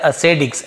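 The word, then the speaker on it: ascetics: Rama, Lakshmana and Sita changed into the dresses of द असेडिक्स, यहाँ टी लिखा है लेकिन ड जैसे पढ़ेंगे, असेडिक्स ऐसे उच्चारण किया जाता है।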